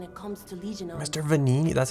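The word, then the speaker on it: Venigni: the expert when it comes to Legion Mr venini that's how you pronounce that I pronounce that V electricity if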